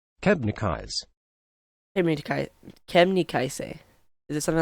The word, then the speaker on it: Kebnekaise: I mean, we Swedes call our tallest mountain Kebnekaise, which is not. It's a butchered pronunciation.